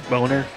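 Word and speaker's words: Boehner: the represent or representative bainer to Y Obamacare he's going down I believe his uh the proper way to pronounce his name is boner yes probably a boner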